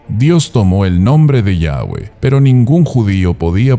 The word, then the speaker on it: Yahweh: Ni siquiera los manuscritos más antiguos ayudan a saber exactamente cómo se debía pronunciar el nombre, aunque posiblemente la mejor pronunciación es de Yahweh.